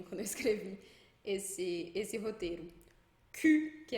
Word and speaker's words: cul: Cul, que é bunda. Então a gente fala cul, tem um L ali, mas a gente não pronuncia.